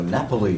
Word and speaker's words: Napoli: No, Napoli is how they pronounce that.